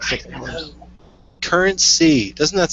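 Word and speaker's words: CurrentC: currency and it's pronounced currency doesn't rhyme it's pronounced it's current C that's the whole C curreny pissed me off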